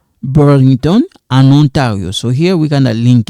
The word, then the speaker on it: en Ontario: This one we kind of link it. We say en Ontario.